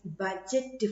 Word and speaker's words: budget: Kerala, Kerala government is imparting almost 40 percentage of its budget for health care nowadays. What is the meaning of budget? Anyone know? What is the meaning of budget? Budget. Yes, D is silent.